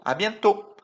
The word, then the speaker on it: à bientôt: À bientôt. Não vai falar o T, né? Bientôt. Não. À bientôt. Bom, super tranquilo.